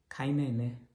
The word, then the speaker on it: Kainene: Kainene.